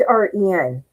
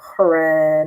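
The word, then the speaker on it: Hren: And so the H is silent. Who has a silent H? I don't know. I don't know. So, it's H ren.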